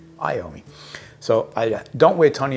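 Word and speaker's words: Iommi: don't wear Tony iomi I've been calling it eoma it's someone's sharing say you're saying it wrong and it's true I apologize I owe me so I don't wear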